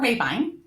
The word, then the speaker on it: Rahbein: And my name is Rahbein, and the company name is Impavid Wealth Advisors.